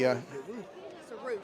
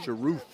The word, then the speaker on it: Sharoof: So Lenny, can you tell us exactly how to pronounce the general's name? Sharoof. Sharoof. Okay, so Sharoof. Okay, I'll get that, and I won't miss it this time. Thanks, Frank. So Sharoof is the way he's pronounced, and he'll be here